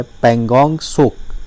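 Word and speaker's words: Pangong Tso: तिब्बत का वर्ड है पेंगोंग शोक शो इस मिट्टी साइलेंट है जिसका मतलब होता हाई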